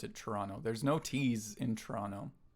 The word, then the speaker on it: Toronto: Yeah, well I don't even pronounce it Toronto the way that it's spelled. I just pronounce it Toronto. There's no T's in Toronto. If you're from this area you know that there's no T's in Toronto.